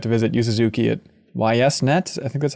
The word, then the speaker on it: YSNet: there in tokyo yeah but i think it's why yes because of you suzuki so it's weird to say east or yeast or something um but